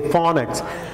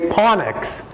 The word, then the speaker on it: phonics: is different you wouldn't you might say panics panics because ph in pacifie you see you you make it a different sound than what uh english speakers say we say phonics for us this sound